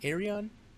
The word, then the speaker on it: Ayreon: I'm pretty sure that's how you say it, Ayreon.